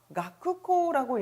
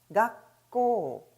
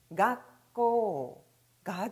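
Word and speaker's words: 学校: 네, 자, 가쿠에 교자를 넣어서 코, 가쿠코라고 읽으시면 안 되겠습니다. 스펠링이 역시 초금으로 바뀌게 되는 현상을 일으키게 되는데요. 역시 옳은 발음부터 읽어보도록 할까요? 가꼬, 가꼬가 되겠죠. 자, 마지막으로 넘어갑니다.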